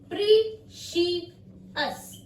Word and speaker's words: precious: अब एक वर्ड और ले लेते हैं, प्रीशियस, PRECIOUS, प्रीशियस।